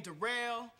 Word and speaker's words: Daryl: yeah uh my name derell it's spelled like Daryl but it's pronounced derel uh yeah I just